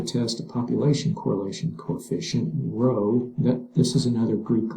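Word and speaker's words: rho: a population correlation coefficient row that this is another Greek letter okay you it's it's spell RH write it r h o okay and it's pronounced row um using a table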